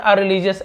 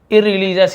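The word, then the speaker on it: irreligious: और इररिलीजियस, ठीक है, इर ऐसे लिखा हुआ, लेकिन अर ऐसे पढ़ते, अरिलीजियस ऐसे ही पढ़ते, अधार्मिक, जो धर्म को नहीं मानता हो, लेकिन हम इससे इररिलीजियस ही पढ़ेंगे तो आप इर पढ़ेंगे, ठीक है।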